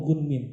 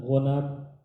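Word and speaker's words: غنم: Tapi namanya itu gunmin. Cuma tulisannya sama. Ghain nun mim. Ghain nun mim. Kalau orang nggak ngerti bacanya, nggak ngerti ilmu perawi hadis, para perawi, maka bacanya kadang-kadang wabihi qala hadatsana ghanam. Padahal ghanam itu artinya kambing. Berarti dia meriwayatkan hadis dari kambing. Harusnya yang betul adalah gunmin harusnya, gitu ya.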